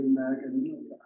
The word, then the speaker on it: Magan: Say it again? The G is silent.